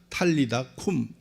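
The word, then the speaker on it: talitha kum: 탈리 다 쿰 입니다 원래 이게 아람어로 제대로 발음을 하자면 탈리 닿고 미에 달리 달곰이 아니라 탈리 다 쿰 팔리다 가 소녀야 쿠미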